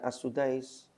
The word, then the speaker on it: As-Sudais: Syekh Abdurrahman As-Sudais, itu memang dibaca As-Sudais.